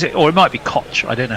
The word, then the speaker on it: Koch: or it might be Koch I don't know how Donovan Koch pronounces his name either he might is it CH at the end yeah it's k-o-c-h oh it will be caught he's South African I